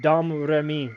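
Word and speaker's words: Domrémy: How How do you say the French uh town of Dam Rei where Jean Jean John was born. Yeah. Dami.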